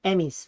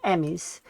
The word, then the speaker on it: Emmys: The word Emmys is pronounced like Emmys. Uh, it's the name of the awards for television excellence. Kind of like the Oscars but for TV. Uh, I think you're right. Emmys, right?